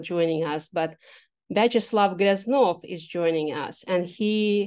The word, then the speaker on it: Gryaznov: I said Gryaznov, but it's Gryaznov. Okay, it's very good to know how to correctly do it.